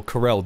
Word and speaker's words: Corel: time I've actually heard I've always pronounced it Coral I even though Corell does make more sense um so I'm probably